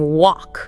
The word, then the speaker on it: walk: I remember you mentioned a student saying walk. Oh yeah. Trying to say walk, W A L K, but pronouncing the L and maybe the A sound differently. So it sounded like woke and friends heard woke, right?